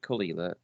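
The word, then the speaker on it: Caol Ila: For a long part of its history, Kalila, pronounced Kalila, is used almost exclusively in blends.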